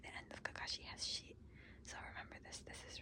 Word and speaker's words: し: So it's pronounced like the name she but it's just a swoop.